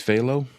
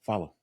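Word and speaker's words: Fahlo: It's Phalo. How do you spell that? F-A-L-O? No, F-A-I-L-O? It's like Phalo. Philo? F-A-H-L-O. Oh, I'm sure that's an acronym for something. Yeah, follow. Oh. Like follow me.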